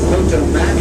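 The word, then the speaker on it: Potomac: for generation and generation the actual pronunciation is poto mac and squirrel tail but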